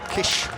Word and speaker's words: Kiss: stops in Germany and kiss gets the big chair Kish as he pronounces it obviously these pronunciations are